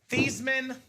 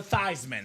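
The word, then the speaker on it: Theismann: They said, "Joe, let's change your last name from Theman to Thyman." So we can say Thyisman for the Heisman.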